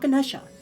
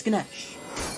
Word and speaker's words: Ganesh: Not Ganesha. This is Ganesh. It's pronounced Ganesh.